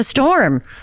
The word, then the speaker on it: Storme: Today we're talking to Storme, and he informed me the E is silent.